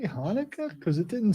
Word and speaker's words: Hanukkah: Is there a K in Hanukkah? Because it sounded like she said Hanukkah. There will be people. It starts technically with a CH, and so some people